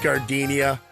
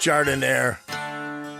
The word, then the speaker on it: jardiniere: And guys, when you're at the counter, don't call it gardenia. It's pronounced jardiniere.